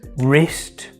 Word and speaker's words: wrist: Number five, silent W before an R. For example, in the words wrist, wrong and write.